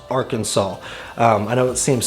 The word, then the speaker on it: Arkansas: some people is if you start calling it our kansas or saying it in some type of an of a accent that's not very friendly so i would definitely say just know how to pronounce arkansas before you get here and not call it